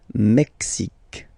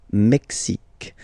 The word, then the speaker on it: Mexique: X, x, Mexique. It's really the X. Huh? Le Mexique. And then remember this Q-U-E, it's only K, K.